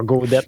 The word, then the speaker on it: Godet: Godette, mais pas de T, pas de 2 T, genre, c'est, ça s'écrit Godet, mais on dit Godette dans ma famille, bâtard.